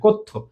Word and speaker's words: কথ্য: হয়ে যায় উচ্চারণটা জ ফলা আছে তাই ওকার উচ্চারণ হবে কথ্য তাহলে আমাদের লেখ্যরীতি আর কথ্য রীতি ভাষারীতি কয়